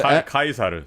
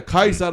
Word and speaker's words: Caesar: Oh, you mean Caesar is the Kaisar? Yeah, Kaisar is the actual Latin pronunciation.